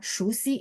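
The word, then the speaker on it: 熟悉: Jadi teman-teman tahu, oh ternyata yang apa namanya, yang ini harusnya SHU gitu ya. Shusi, shusi itu familiar. Ya, saya tulisin ya, shusi, SHU, shusi, ini familiar.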